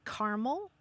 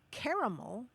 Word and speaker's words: caramel: But in the United States, some people say caramel, some people say caramel, some people say caramel, and some people actually say caramel. And that's just in the United States.